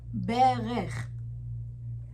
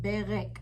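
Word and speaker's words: ברך: K, but it's a little bit more rougher. Berech. But as slowing and taking your time, you can start with Berek. That's why I left the K there as you start to activate the pronunciation.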